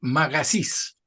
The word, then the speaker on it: Magasich: Eh, tu apellido es Magasís, Eso es. ¿Lo pronuncié bien o no? Sí, sí, está bien.